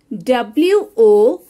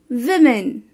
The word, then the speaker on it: women: y it's wednesday wednesday like today is wednesday w-o-m-e-n it's women women